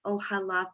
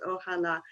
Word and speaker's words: Ohala: Muslims of Chicago, and just to clarify, it's Ohala Foundation. I know there's a way of reading it in English that is a little bit different, but it's pronounced Ohala.